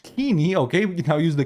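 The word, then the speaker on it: Koine: Greek Orthodox countries now use the coin dialect pronounced kini.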